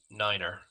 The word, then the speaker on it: niner: And 9 is said as Niner.